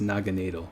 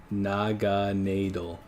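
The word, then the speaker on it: Naganadel: gana del noggin Adele but but it is pronounced Naga needle like it's literally pronounced Naga needle Naga na del I can see you're saying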